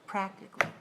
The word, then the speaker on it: practically: need to spell a-l-l-y but in pronunciation you put more of your emphasis on the first syllable practically practically all right let's